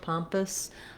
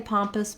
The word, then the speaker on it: pompous: uh oops the ps sound so thinking about it like just a little tiny uh or e sound pompous it's a reduced vowel there for sure because it's so much shorter than our palm syllable once you can say